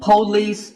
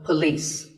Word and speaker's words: police: This isn't police or polis. It's pa and lis with the stress on lis. So police.